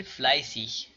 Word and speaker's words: fleißig: کلمات مختوم به ایگ می توانند ایگ یا ایش تلفظ شوند مانند fleißig، fleißig کوشا یا کوشش کننده، کسی که زیاد کوشش میکند.